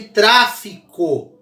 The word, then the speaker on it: tráfico: Caso de tráfico. Olha lá. Tráfico. Tra é a mais forte, é a antepenúltima, tá?